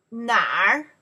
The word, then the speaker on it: 哪儿: Here, this character will pronounce 哪儿? 儿? Just the small little tail, the sound.